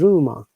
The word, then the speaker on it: rumor: Look, in rumor, the amazing matter is that letter R at the first letter must be pronounced, but the letter at the end is not pronounced at all. So it is rumor.